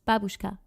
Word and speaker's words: babushka: So it's babushka and not babushka. Like you don't pronounce the like you don't accentuate the u. It's babushka.